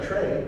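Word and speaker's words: trie: right um oh and there's our tray right is spelled t r i e So cael Cal tray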